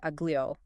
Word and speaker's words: aglio: Gil when it's followed by a vowel usually sounds like the li in the English word million. I think aglio, right?